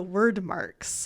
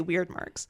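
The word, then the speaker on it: Wyrdmarks: called word marks and word marks is with a Y so w y r d m a r k s surprisingly I had no problem pronouncing those yeah I wanted to say weird marks oh that's what I wanted personally but I found out that was not the case so senena then finds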